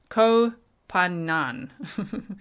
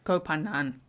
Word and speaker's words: Koh Phangan: on Thailand's famous full moon party island of Koh Phangan. I tried to listen to it a few times of how to pronounce it.